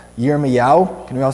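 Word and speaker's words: ירמיהו: In Hebrew, his name is pronounced yermea.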